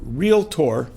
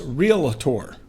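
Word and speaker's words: Realtor: so many real estate agents pronounce the word real tour two syllables as real a tour I don't know how many of us would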